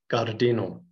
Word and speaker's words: gardeno: The G is always hard as in get, never like in gin. So it is gardeno, garden.